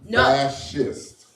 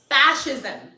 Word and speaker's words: fascism: page with what not fashion fascist. Fascism. Fascism. Fascism. Yes, it is. Spell it with like you spell fashion with fashion with ISM. Fascism.